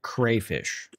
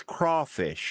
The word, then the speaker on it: crawfish: First off, never pronounce it crayfish. Does this Does this rein Does this reinforce my um crawfish? It's It's crawfish, y'all.